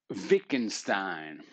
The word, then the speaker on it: Wittgenstein: briefly about ludwig wittgenstein that's how we're going to pronounce this sucker with the w says v's as they do in germany ludwig wieckenstein 1889 to 1951 often